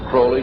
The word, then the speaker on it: Crowley: matters that I developed information about was an individual I learned about was Aleister Crowley. He likes to have his name pronounced Crowley to rhyme with holy.